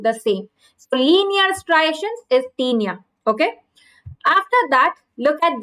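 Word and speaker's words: Taenia: tinia is linear okay remember teenia is rhyming with linea so there is linear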